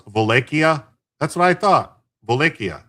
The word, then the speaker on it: Wallachia: Wallachia, like the in Polish, Slovak, and like a lot of Slavic tongues, the W is pronounced with a V, and a V is pronounced like a W.